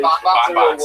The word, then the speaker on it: bonbon: Bonbons, yeah, it is, right? It's because you're a little chubby. Bon rhymes with bond. Yeah, you just say it twice.